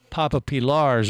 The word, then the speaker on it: Papa Pilar: And you're supposed to say it like that, just like when you say, we have Pusher's rum. It's Pushers! Yeah, and then when you have Papa Pilar's rum, it's Papa Pilar.